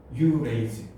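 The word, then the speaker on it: urease: 뒤에 ASE 붙으면 옛날에는 아제라고 발음했거든. 아밀라 아제, 리파 아제 이렇게 발음했는데 그게 이제 영어식으로 다 에이즈라고 발음이 돼요.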